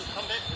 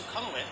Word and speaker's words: Sukhumvit: This is Sukhumvit. It's actually supposed to be pronounced Sukhumvit, but nobody says it that way.